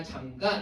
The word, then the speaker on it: 잠가: 그다음에 자 3번 같은 경우에 대문을 잠가라고 했을 때 당연히 된 소리로 발음하지 않아요. 그죠? 잠가 아니라 잠가 이렇게 발음을 하는데 미음과 기억이 모두 하나의 형태수 안에 속해 있는 소리기 때문이다.